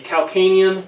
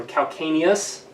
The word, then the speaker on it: calcaneus: the shoulder and the calcaneal is this little bone here or calcaneus they're both pronunciations are correct so bison as a